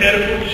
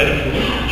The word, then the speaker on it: Erfurt: Si ustedes leen el programa de Erfurt, lo buscan en internet, Erfurt se escribe como suena, ¿no? ERFURT.